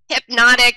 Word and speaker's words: Hpnotiq: Hpnotiq, but in a French way, because it's a French liqueur, which goes with our theme today.